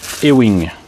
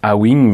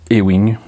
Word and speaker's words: A-Wing: Et c'est une maquette de Bandai du E-Wing. En français, on le lirait A-Wing, mais ça se prononce E-Wing, la lettre A.